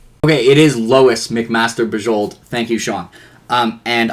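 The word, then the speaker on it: Bujold: that is Lewis someone told me how to pronounce this right was it okay it is Lois McMaster bajold thank you Sean um and I these are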